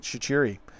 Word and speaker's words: Shaqiri: That's how they pronounce it. Shaqiri.